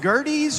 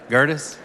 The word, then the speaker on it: Gerdes: speaker now Mr Gerda is it gerties or Gerdes how do you say your last name Gerdes and first it's